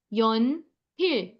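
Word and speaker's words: 연필: First word is pencil, which is pronounced as yon pil.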